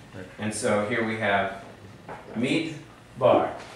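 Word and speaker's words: מדבר: And so here we have midbar. Instead of midvar, if I had no Dagesh here, midvar. Right? But there's a Dagesh in here.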